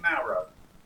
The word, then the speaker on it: Mauro: Mauro.